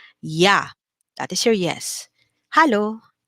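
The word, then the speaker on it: ja: next we have your remember j is pronounced like a letter y yeah that is your yes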